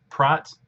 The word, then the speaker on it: Praat: in the announcement uh prot looks like pratt that's dutch when it's pride i'll probably just accidentally call it pratt again because that's usually how i pronounce it but so we'll use